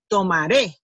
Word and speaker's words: tomaré: See, so when you pronounce the last one stronger. The one that has the accent mark, you say tomaré, like and that shows